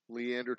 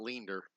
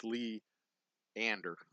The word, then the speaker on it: Leander: North US Highway 183 Leander Texas that is by the way how you pronounce it for all of you else everybody else out there it's Leander it's not leer it's leeander 78641 all right I have